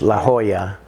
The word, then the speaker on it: La Jolla: In Spanish, La Jolla is how it's pronounced in Spanish.